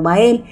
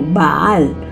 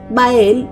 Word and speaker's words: Bael: de Anthony Hopkins pero ahí lo pronuncian como baal pero en realidad se refiere al mismo ente Y es que según los datos bael era un ángel al